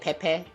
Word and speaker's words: Pepe: Does that mean the name is not really as pee pe but like peep but like Pepe Pepe a Portugal national team born in Brazil.